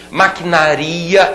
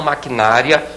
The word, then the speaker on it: maquinaria: contato com outras pessoas maquinaria e não maquinária maquinaria olha que palavra perigosa essa aí derruba muita gente no concurso todo mundo fala necrópsia não